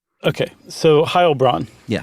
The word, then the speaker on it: Heilbronn: Is it Heil? It is. I just goofed. In German, you do the second syllable. Okay. For an EI. Okay. So Heilbronn. Yeah, Heilbronn, sorry.